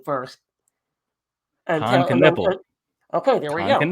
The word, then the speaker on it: Knueppel: I'll let you try to pronounce his name first. Knueppel.